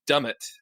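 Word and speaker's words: Dummett: it and goes past dumb it I think it's pronounced dumb it which is you know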